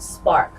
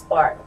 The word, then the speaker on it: SPRRC: of here and uh my organization is called spark it's spelled SP P rrc but it's pronounced spark and the whole point of what I do